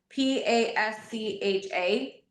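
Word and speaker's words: Πάσχα: this, I'm sure, but the the Greek word Pascha p a s c h a It's typically pronounced Pascha in the in Okay.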